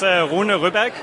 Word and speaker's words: Rune Ryberg: Am I mispronouncing that in the Danish way? No, it's pretty close. It's Rune Ryberg.